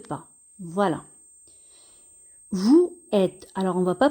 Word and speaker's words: vous êtes: Et nous avons une règle qui dit que lorsque le S se trouve entre deux voyelles, il se prononce ZE. Donc ici, le S va se prononcer ZE. On va relier les syllabes V ou vous, ZE, êtes, zet. Et on va dire vous êtes.